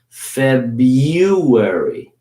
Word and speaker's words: February: way to pronounce it if you say it quickly you barely hear it so February okay all